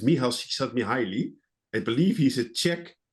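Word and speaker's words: Csíkszentmihályi: I have, well, learned by heart how to pronounce his name. If you Google it, it will be difficult, but it's Michal Csikszentmihalyi.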